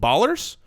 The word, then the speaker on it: Ballers: with our promo code Ballers it rhymes with dollars and it's also part